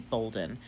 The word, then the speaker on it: Bolden: My name is Professor Bolden. It's spelled funny, but it's pronounced the same as golden.